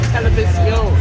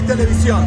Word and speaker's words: Televisión: It's supposed to be Televisión. Yeah, you say Televisión.